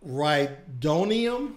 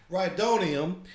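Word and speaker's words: rhydonium: kind of explosive called reitonium i i think it's how you pronounce it rydonium that is highly explosive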